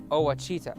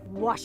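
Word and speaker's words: Ouachita: uh I've heard people say OA oh a Oita is it pronounced Oita searching for wasita Baptist University back in Texas everybody pronounces it witch but really it's was wash was how would you pronounce it was it's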